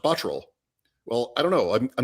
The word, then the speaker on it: Botterill: We had Jason Botterill with the Sabres, and he would tell you his name is pronounced Botterill.